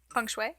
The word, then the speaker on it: feng shui: For example, with I think it's feng shui. Feng shui. Yes, I thought I had the pronunciation. No, you're okay. Feng shui.